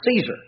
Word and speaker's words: Caesar: title that we pronounce caesar in english we say we pronounce it caesar uh actually the latin pronunciation was more like kaiser that would have been